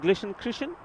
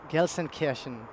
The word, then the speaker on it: Gelsenkirchen: And what's the other one? Glishenkirchen? Well, that's Gelsenkirchen.